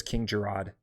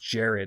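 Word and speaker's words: Jerrod: and same thing with uh uh I've always pronounced King Jared as king Gerard that's how I actually don't know which one's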